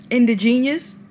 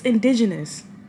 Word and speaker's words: indigenous: earlier in my Vlog I said indigenous indigenious you remember when I I pronounced the word wrong indigenous it's indigenous I knew that I